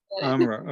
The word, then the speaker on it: Amra: It rhymes with opera if you remember. Amra.